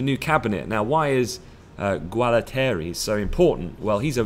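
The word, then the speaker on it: Gualtieri: peace offering to Europe so Roberto Guerra Terry as far as Tommaso has told me is the correct way to say his name has been appointed to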